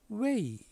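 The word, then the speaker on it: 慰: 중국 발음으로는 웨이 이렇게 발음됐어요. 다음 위로할 위. 이는 웨이.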